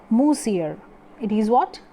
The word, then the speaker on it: monsieur: from molsir this word monsieur which is seeming here monsieur m-o-n-s-i-e-r in french the pronunciation of this word is moosier it is what moosier musil and madame loisel